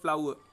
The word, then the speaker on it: flour: फिर फ्लाउ, इसको कैसे बोला जाता है, FLOUR, जो अपन बोलते हैं, यहाँ पर एक ही ध्यान देना इसको, ठीक है ना, रिपीट हो रहा है ये, इसका साउंड आता है फ्लावर, ठीक है ना, र जो है वो बोला नहीं जा रहा है, देखो यहाँ पे, तो फ्लावर।